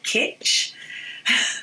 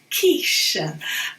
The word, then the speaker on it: quiche: We don't say kitsch, it's quiche.